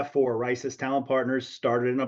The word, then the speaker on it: Risus: and and the last point I'll make is racis by the way and you pronounced it right John I appreciate it it's not risus it's not reesus it's risis and we even put the long eye symbol